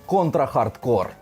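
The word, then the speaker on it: Contra: Hard Corps: час воістину крутих ігор контрахардкор тактак Саме так читається її назва це максимальний концентрат крутості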